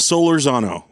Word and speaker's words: Solorzano: do you say your last name my last solar Zano that is a good last name yeah thank